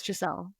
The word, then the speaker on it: Jelle: even jelle I mean people can't pronounce jelle at all those people need to go somewhere different if they can't get out of here I don't have a nickname no it's jelle yeah my parents gave